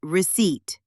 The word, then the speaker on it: receipt: Same with receipt. The P is silent. It's receipt.